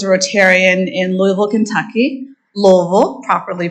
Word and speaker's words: Louisville: My father was a Rotarian in Louisville, Kentucky, Louisville, properly pronounced, which is where I'm from, in Shively, and he was the first African-American member of that Rotary Club.